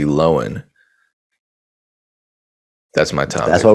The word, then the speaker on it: Lohan: news uh lindsay lohan her name has been mispronounced this entire time it's actually lowen that's my time that's